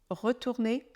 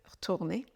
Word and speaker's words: retourner: on est tourner retourner le E de retourner disparaît dans notre contraction orale de ce mot retourner retourner et le reste de la phrase